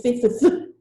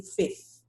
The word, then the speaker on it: fifth: Now notice the F is not, the second F is not pronounced. So don't try to say fifth. It's too hard. Just say fifth.